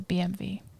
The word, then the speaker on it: BMW: mean that's the sound that's how you pronounce the w oh gosh you guys are yeah it's a bmv bmv so i was